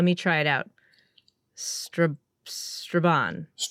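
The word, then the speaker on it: Strabane: I've been apologize if I mispronounced the name of your hometown. Let me try it out. Stra Straban. Straban.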